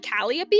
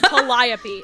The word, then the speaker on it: Calliope: The reason that when Mori Calliope like debuted and people were like Calliope, I'm like, fuck no, you guys didn't read Homestuck. It's Calliope.